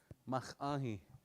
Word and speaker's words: Mach-ahi: Mach-ahi. Mach-ahi. Almost like you're saying ahi by itself in a way. Almost, right? Like almost like you're saying mach first.